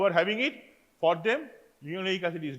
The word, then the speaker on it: linoleic: To remember the spelling, this way we pronounce it: linoleic, linolenic.